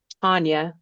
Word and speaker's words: Tonia: So this former nurse turned exotic animal broker, Tanya, it's spelled like Tonia, but anyway, Tanya Haddix, she spends her days caring for animals in captivity, referring to herself as the Dolly Parton of chimps.